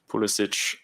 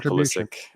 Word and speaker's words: Pulisic: of view, but obviously growing up in America, it was always pronounced Pulisic, so that's just what I'm used to. But both I'm very much okay with. Pulisic, they said actually now